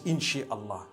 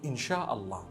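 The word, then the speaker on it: إن شاء الله: No one says Inshi Allah. They say Insha'Allah.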